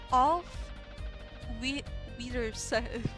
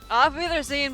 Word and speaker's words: Auf Wiedersehen: Auf... Wiedersehen... Okay, hold on. I need to look that up. Auf... Wiedersehen...